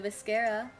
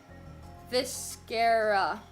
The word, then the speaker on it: viscera: Viscera. Viscera. Oh, god dang it. I was saying it wrong. It's viscera.